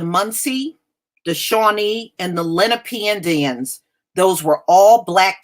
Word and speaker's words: Lenape: aware of and well that's how they pronounce it here Carmen they say Lenape and they even say